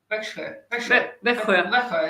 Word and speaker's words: Växjö: Växjö, isn't it?